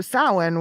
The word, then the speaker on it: Samhain: Sam, I don't know how to say the name, but It's Samhain.